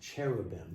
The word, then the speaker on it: cherubim: And the word carobim some in English sometimes pronounced cherubim.